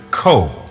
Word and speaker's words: Ko: his daughter in tow, he would say to her, Ko, as if it was spelled K-O, a single syllable.